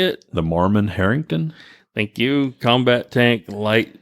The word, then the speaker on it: Marmon-Herrington: typical Charlie how do you say it the Mormon Harrington thank you combat tank light and tank and